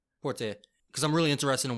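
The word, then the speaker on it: Poitier: Portier. Say yeah. Poier. Portier.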